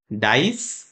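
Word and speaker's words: dice: वह वाला रूल आया यहां पर इ को साउंड नहीं आएगा ई का साउंड नहीं आएगा क्योंकि आई यहां पर है ठीक है डाइस डाइस the Apple डाइस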